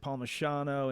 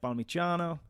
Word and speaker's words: Palmisciano: So it's Americans pronounce it Palmisciano, and in Italy it'd be more like Palmisciano.